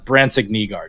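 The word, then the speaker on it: Brandsegg-Nygård: in Grand Rapids, but it is Brans Negard is how you're going to go with that one for the pronunciation.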